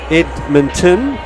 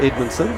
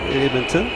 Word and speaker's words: Edmonton: uh reichen Loper Edmonton not Edmondson Edmonton number 11.